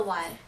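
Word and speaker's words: wai: A customary greeting for the Thai is called the Y. It's spelled W-A-I. But just, what is the Y?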